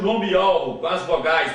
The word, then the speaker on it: Yahweh: O W aqui você lê como sendo U, e aqui aparece a última letra do nome do Pai. Portanto, o nome do Pai é Yahweh.